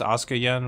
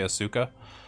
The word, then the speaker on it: AsukaYen: was just ASA Yen it's actually pronounced Asuka Yen but a lot of people say Asuka um so yeah the